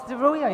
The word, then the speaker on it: Zeruya: No, it's Zeruya, it's perfect. Zeruya.